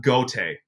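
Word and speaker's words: Gaoteote: Instead of ma'a nauteote, just ma'a gote. Like it says goat in his name, so just like say it like goat instead of fumbling over his last name like I do.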